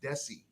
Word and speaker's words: Desi: The first name, because it gets butchered a lot, it's been butchered since I was little, is Desi, like Arnez, Desi.